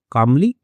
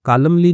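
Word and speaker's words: calmly: पढ़ाई करने के बदले शांतिपूक कामली। ठीक है? तो कॉलमली नहीं पढ़ते हैं। एल साइलेंट होता है इसमें।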